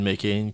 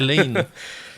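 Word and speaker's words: McLain: c'est interprété par Helen McCain qui a composé la chanson. Les pizzas pochettes. Ouais, ça, les McCain, ouais, c'est ça, mais c'est parce que Ouais. c'est McLean. Je l'ai mal prononcé, c'est McLean.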